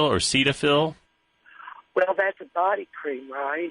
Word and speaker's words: Cetaphil: I should use have you tried something called Cetaphil or Cetaphil well that's a body cream right right it's an over-the-counter it's spelled c e t a p h i